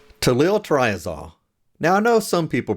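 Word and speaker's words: tolyltriazole: today's topic is to Lil triazol now I know some people pronounce Italy triasol but there is a second l in there I was taught to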